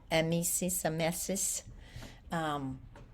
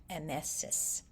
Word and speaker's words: emesis: And of course, your medical term, emesis, is pronounced, I think the E sound is really the the soft or short vowel, emesis, or nausea.